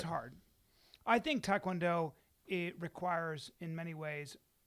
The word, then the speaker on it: taekwondo: Well, it's pronounced taekwondo.